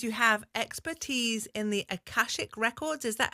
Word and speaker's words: Akashic: In your introduction, um, it says you have expertise in the akashic records.